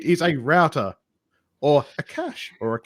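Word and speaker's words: cache: I just go with cash but yeah the cas it's a French word and they pronounce it cash yeah I mean yeah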